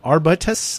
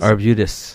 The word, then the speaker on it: Arbutus: I pronounce this wrong the AR arbitus ARB arbitus Arbutus Arbutus thank you the Arbutus Folk School